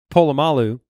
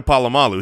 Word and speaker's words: Polamalu: Yeah, it's Troy Polamalu. He's saying his name wrong. But he says Polamalu. Right. But like. It's a subtle difference. It's right. A pole instead of a Paul.